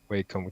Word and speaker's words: Wacom: No, it's a Wacom tablet. I didn't know how to pronounce the Ah, Wacom. I say Wacom in I Swedish. might be pronouncing it wrong too.